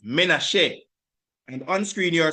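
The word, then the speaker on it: Manasseh: It is pronounced Menace and on screen you are seeing here is his wife Asenath.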